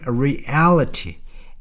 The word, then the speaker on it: reality: Reveal the grim reality. L의 강세가 있습니다.